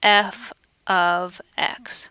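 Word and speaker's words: f(x): f parentheses X parentheses and the way we pronounce that is f of X so I just mentioned if an equation is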